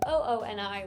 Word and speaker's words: Ooni: uni or you know a lot of people would hear people say uni and then not really know how to spell it they wanted it just super easy for consumers to be able to search and find them in 2018 they just changed to ooni which is the phonetic spelling of movie obviously for